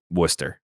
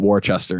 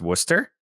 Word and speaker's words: Worcester: the Wu Sox don't know how to pronounce Worcester uh actually yeah that makes sense a lot of them have no idea I remember I was in Middle School and I was calling it warchester and someone actually had to tell me and